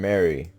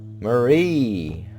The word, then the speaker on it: Marie: do get to Marie Marie I've been saying Mary Jesus Kevin I can't pronounce names either Marie that's her name Murray's journal how KLCC